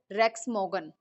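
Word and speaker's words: Rex Maughan: अब कंपनी को स्टार्ट किसने किया था, हु इज़ द CEO, हु इज़ the founder, mister रेक्स मोगन, ठीक है, आपको इनका नेम प्रोनाउंसिएट करना आना चाहिए।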